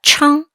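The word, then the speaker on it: 撑: 발음은 청입니다. 읽어볼게요. 청.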